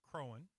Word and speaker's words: Croghan: was not named Croghansville, because the GH is silent and no one would say Crowan. So I'm just going to say Croghan because that's what everybody knows.